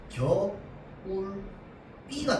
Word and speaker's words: 겨울비: 자, 사이소리 현상인데 예를 들어서 겨울비라고 하면 얘는 발음할 때 겨울 B가 된단 말이야. 왜 겨울 B가 되냐면 겨울이랑 B가 만나서 그 중간에 사이소리 현상이 일어나는 거거든.